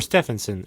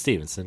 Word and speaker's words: Stephenson: Is it Stephenson or Stevenson? I always thought it was Stevenson. Yeah, it's Stevenson, right? Yeah. I think they spell it PH, which always used to make me think it was Stephenson. But no, it is Stevenson.